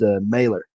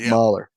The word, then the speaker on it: Mahler: I think it's actually pronounced Mailer, not Mahler.